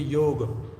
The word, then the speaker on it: yoga: In Hindi or Sanskrit if you chant it if you sorry pronounce it it will be yoga. A little a sound at the end. Yoga. Can you hear this? Yoga. This is the right pronunciation of yoga.